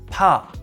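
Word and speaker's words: 怕: This character is pronounced pa and means fear.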